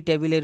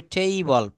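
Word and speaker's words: table: Keep the book on দা দেখেন আমরা টেবিল বলি। এটা উচ্চারণ করতে হবে টেইবল।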